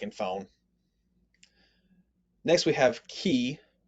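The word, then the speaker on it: chi: phone next we have key key has the ch sound like in law there aren't too many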